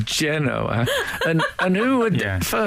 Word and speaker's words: Genoa: to Indonesia they and they certainly don't say Genoa it's mainly generally pronounced Genoa and and who would